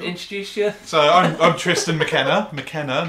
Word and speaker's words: McKenna: It's McKenna. McKenna. Yeah. McKenna. McKenna. Why did I say McKenna? That's too easy. It sounds like a Scotch.